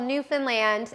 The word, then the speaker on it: Newfoundland: that and it's called Newfoundland and it's pronounced like Disneyland okay and I grew